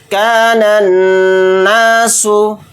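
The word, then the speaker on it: الناس: पेश सु कानना सु यहां पर अलिफ लाम के बाद नून आ गया और नून रूफ शमसी के 14 रूफ में से एक हर्फ है तो यहां पर भी अलिफ और लाम दोनों को साइलेंट कर देंगे बल्कि नून को नून में डायरेक्ट मिलाकर पढ़ेंगे नास या जबर या वा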